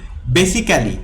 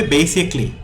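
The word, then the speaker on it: basically: যে কোনো ক্লি উচ্চারিত হবে, যেমন বেসিক্যালি, ক্যালি না বলে বলতে হবে বেসিকলি।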